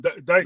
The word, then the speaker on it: Dyckman: Is it Dickman or Dyckman? And we went to, Dyckman, yeah. Mm-hmm. Right, Dyckman.